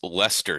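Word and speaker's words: Leicester: I did research um two things um it's pronounced Lester city um way off on that spelled l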